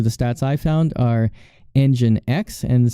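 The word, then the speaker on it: nginx: stats I found our engine X and some people will actually pronounce it in jinks according to their website it's actually engine X okay and then one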